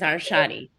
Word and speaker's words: Arshadi: And you say your last name, because I feel like I mispronounce everybody's my last name is Arshadi.